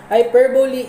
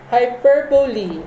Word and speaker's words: hyperbole: about what is hyperbole hyperbole is um that's wrong wrong and wrong hyperbole is the correct pronunciation dictionary so hyperbole is